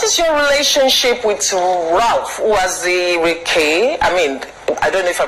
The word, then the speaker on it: Uwazurike: Okay, so what is your relationship with Ralph Uwazurike? I don't know if I pronounce it. Uwazurike, yes, that's his name.